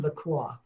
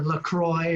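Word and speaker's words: LaCroix: with a little bit of my uh Tangerine laqua or lacroy or laqua or whatever you want to call it to pronounce it we don't need to get into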